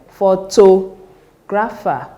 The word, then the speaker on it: photographer: 1 2 3 so the third syllable from the end that is anti penultimate syllable should receive the stress for words that HS